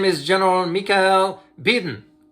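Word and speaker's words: Bydén: The Sweden Supreme Commander, his name is General Mikael Biden. You can pronounce it as Biden too, but Biden, B-Y-D-E-N.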